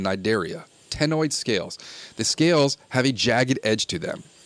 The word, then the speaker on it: Cnidaria: The C is silent, like in Cnidaria.